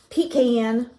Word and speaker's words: pecan: I do the floss subscriptions and this is pkn because that's how you say it in a